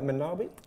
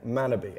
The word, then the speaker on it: Manabe: November November yeah uh am I saying it right manabi manabe manabe yeah manabe okay can you tell